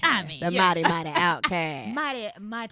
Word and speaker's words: Outkast: mighty Outkast. Mighty. Pronounce Outkast. Outcast. Yeah. Don't even say the T. Nah. We don't say Outcast. No. We say Outkast.